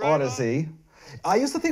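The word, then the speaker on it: Audeze: And in the beginning when they had the apostrophe, when it was, because that's how they got the people to pronounce Odyssey.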